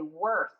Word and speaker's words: worse: this one worse worse and this e is silent so we say worse let's try this one